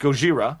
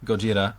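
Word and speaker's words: ゴジラ: It's actually pronounced in Japanese. I believe it's pronounced Gojira. Gojira. Gojira.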